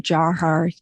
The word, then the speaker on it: Dzhokhar: tamerlan is one he's the older brother and dzhokhar jaw har different pronunciations for the younger brother but tamerlan is